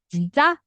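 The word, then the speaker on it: 진짜: alfabetin itu ditulisnya JJ namun teman-teman ingat cara bacanya adalah C ya Jadi ini adalah huruf C gitu yaun cara bacanya C gitu ya jinca kalau teman-teman pernah dengar kata jinca nah itu kan c-nya itu yang eh J Ya c-nya itu dia pakai du Double J seperti itu Nah ini kan jin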